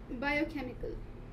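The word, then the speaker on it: biochemical: इसे epidermis right this इस with spirits it's बायोकेमिकल डी शब्द इसे बायोकेमिकल वेयर इस डी स्ट्रेस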